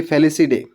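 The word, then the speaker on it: Felidae: what a reproductive feature example family very less we pronounce this family fallacy day okay includes a general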